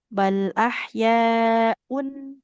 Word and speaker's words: بل أحياء: Karena tanwin bertemu ain, dia bukan ikhfa. Dibacanya jelas. Bal ahyaun, tidak boleh diulang Ibu.